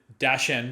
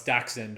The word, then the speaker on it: dachshund: you so i'm glad you pronounce it dashan because i've always pronounced that way but people lots of people call me up and say oh no it's dachshund or what it like there's a few different ways to pronounce i think it's down